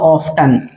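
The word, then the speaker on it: often: बार करते हो हाउ ऑफ्टन हाउ ऑफ्टन या इसको आप ऑफ भी प्रोनाउंस कर सकते हैं टी को आप यहां पे साइलेंट भी रख सकते हैं हाउ ऑफ या हाउ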